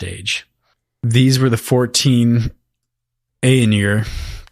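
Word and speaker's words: Ainur: from the first age these were the 14 aeonier i think is the proper pronunciation who actually helped sing ia the universe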